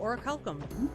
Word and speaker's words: orichalcum: Ooh, orichalcum. Did I pronounce it right this time?